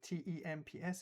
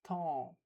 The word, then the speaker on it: temps: En, so T-E-M-P-S is temps, temps. And we don't pronounce the P-S, we don't pronounce the T, we don't pronounce the S, we don't pronounce the D.